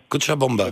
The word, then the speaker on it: Cochabamba: Cochabamba. Bien prononcé.